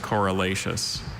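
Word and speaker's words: corylaceous: Are there any alternate pronunciations? No, there's not. There's just coralacious.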